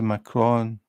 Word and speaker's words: macaron: Yeah, that's a macron. What's a macaroon then? If you search macaroon. So what you mean is you pronounce it the same? Is that what you meant? Because I was calling them macaroons at first, and then I read it and I thought, that doesn't say macaroon, it's macron.